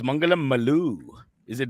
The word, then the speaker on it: Maloo: ones or you know it's actually pronounced malu and that rhymes with a lot of other words like all of that